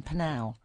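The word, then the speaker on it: Pnau: Panau.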